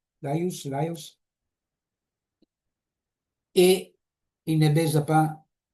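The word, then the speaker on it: Laïos: Et Laios, je crois, on prononce avec la S en français, Laios, et il ne baise pas sa mère dans la tragédie.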